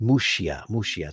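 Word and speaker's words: Muxía: The church on the far northwest corner of Spain in Muxia, pronounced Muxia.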